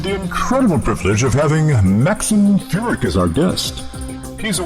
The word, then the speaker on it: Maxim Furek: Maxim Furek, yes.